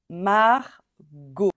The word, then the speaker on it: Margot: ce prénom et donc quoi qu'il arrive no matter how we write this name on va dire o à la fin Margot o t a x